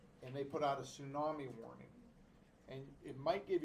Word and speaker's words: tsunami: little bit strange t-s-u-m-a-n-i it's a silent t i don't know why we do that in english language we just make up certain rules for no reason we're gonna have a silent t at the beginning of a word tsunami i was watching